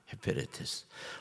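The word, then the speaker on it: ὑπηρέτης: 헤페레테스. 우리 어렵지만 발음 한번 해볼까요?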